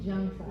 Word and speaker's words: Zhang Sah: Zhang, say it like a J. Zhang Sah.